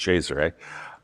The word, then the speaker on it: Cesare: Her brother Cesare, however, it looks like Caesar, but it's pronounced Cesare. Her brother Cesare, however, may very well have done so.